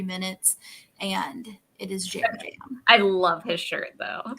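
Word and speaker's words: Yam Yam: Because he posted on Twitter that it is Jam Jam. Jam Jam. That Okay. it is either pronounced Jam Jam or you may use the yam emoji.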